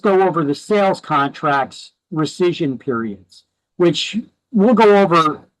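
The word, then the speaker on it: rescission: You need to understand what a right of recision is. That's how that word is pronounced.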